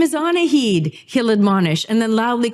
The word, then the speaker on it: Annahid: Actually, my mom's name is pronounced Annahid.